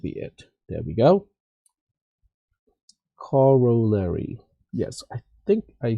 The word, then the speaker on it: corollary: a smaller theorem and here's the pronunciation corollary Cory all right cool